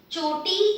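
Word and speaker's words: छोटी: But here I have the aspirated one. So this one, ch, ch. Feel your breath at this distance. Choti.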